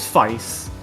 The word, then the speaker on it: Feist: I've been told at least that the pronunciation is Feist.